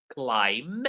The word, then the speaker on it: climb: So these are three words where the B is silent. Climb, we saw this earlier.